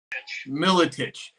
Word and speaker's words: Miletich: Julian Neal, and we have Pat Miletich. How do you pronounce that? Miletich.